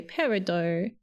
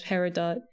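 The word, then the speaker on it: peridot: The word does have French origins, but most jewelers and gemstone collectors don't pronounce the t. They say parido.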